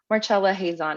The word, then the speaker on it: Marcella Hazan: this stage for who marchella hazon is also I think we were saying her name wrong in the last in that ravioli episode so oops we got it right now so she was born